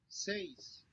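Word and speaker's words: seis: pronounced like the like the a y in the english word say okay um says so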